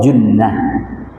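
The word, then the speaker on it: جُنَّة: Asumu junah. Ini hurufnya jim nun. Terus apa? Ta marbutah. Ya. Bacanya apa? Junah. Kalau jannah artinya apa? Surga. Kalau jinnah? Jin ya. Junah benteng. Jannah surga. Jinah jin. Iya.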